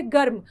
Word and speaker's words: गर्म: गर्म इसको हम बोलेंगे गर्म। लगेगा कि ग के साथ र का उच्चारण हो रहा है। लेकिन जो मात्रा का प्रयोग होगा रफ की मात्रा जो लगेगी वह अगले व्यंजन के साथ लगेगी।